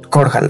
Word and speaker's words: Korhal: Korhal, así se había pronunciado.